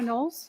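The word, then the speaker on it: Knowles: My name is Nolles. My last name is spelled K N O W L E S.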